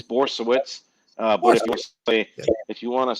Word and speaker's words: Borysiewicz: How do you actually pronounce it? Now, I doubt I'll remember, but I do want to hear it. It's Borysiewicz.